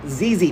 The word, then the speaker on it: ZZ: Hi, the plant guy, and I'm here to talk to you about ZZ plants. This is a ZZ plant. It rhymes with the word easy because it's actually easy to care for.